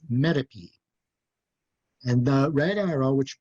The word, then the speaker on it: metope: lower right you see the word me t o p which we pronounce metape and the red arrow